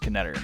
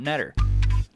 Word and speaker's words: Keter: I'm sure a lot of you didn't know that it's pronounced Keter, not Nett.